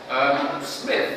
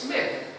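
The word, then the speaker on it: Psmith: He himself, the P is silent, it's in psalm.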